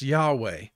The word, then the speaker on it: Yahweh: are represented in hebrew by the consonants yh and wh and pronounce yahweh yahweh is the hebrew